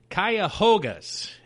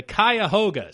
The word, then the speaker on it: Cuyahoga: how to say it here but the Cleveland Cuyahoga I actually nailed at that time let's go the Cuyahoga which is the river that flows through Cleve